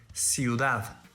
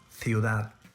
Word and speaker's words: ciudad: First, in Spain, the letter Z is pronounced as TH, as an English word thing, but in all other regions is pronounced as S.